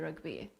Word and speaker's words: rygbi: Dwi'n hoffi rygbi, ond dwi ddim yn chwarae rygbi. Is that right? Is that how you say it? Perffaith.